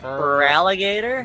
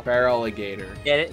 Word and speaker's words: Feraligator: pronounce that freaking name feraligator that's the one if you look at it the first part of his name is feral feraligator cuz he's feraligator he's